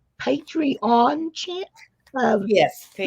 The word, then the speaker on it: Patreon: So what's great about it is the journals that we're doing, you can hop right over to Melody's, make sure I pronounce this right, Patreon channel.